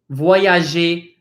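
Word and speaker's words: voyager: example moji voyage ii these ers at the end of the word says 8/8 kind of like when you say the alphabet in English the very first letter of our alphabet is a very similar to that a mangy voyage II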